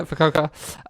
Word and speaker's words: Fukuoka: Is that how you pronounce it? Yeah. Yeah, Fukuoka.